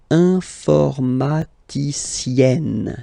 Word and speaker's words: informaticienne: All right, and then if you look carefully, then here, okay, you will have to double the n and then add this final e. Okay, and you get the sound informaticienne, sienne.